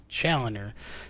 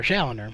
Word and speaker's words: Challoner: rils Ty Spearman and Christian challoner so shoner my bad uh just pronounce that those